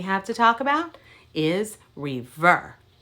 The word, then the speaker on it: rêveur: to talk about is rêveur reverb only has two syllables re ver all right you try